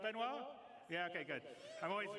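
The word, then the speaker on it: Benoît: CTO benoir bezer did I say it right benoir yeah okay good I'm always bad with French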